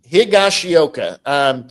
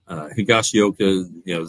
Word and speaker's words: Higashioka: Higashioka.